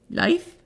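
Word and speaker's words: Leif: then we have uh l e i f life Leaf le le le but very close very close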